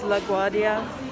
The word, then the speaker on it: LaGuardia: I don't know how to pronounce this place's name. It's LaGuardia.